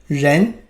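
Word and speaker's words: 人: component of Chinese characters such as number one pronounced as e or man or human gen you see if you're dissected one further step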